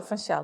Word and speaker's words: Funchal: So, Funchal.